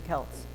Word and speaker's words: Celts: Which is probably more classical because they tend to use a hard C, but in English we use a soft C in front of an E, like ceiling. And okay, this is not a phonics class, but you know, we have, our C's do double duty.